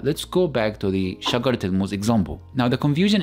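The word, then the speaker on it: شجرة: So the word shagara, if I add Sukoon on top of the last letter of it, then it will be pronounced as shagara with the Heh sound.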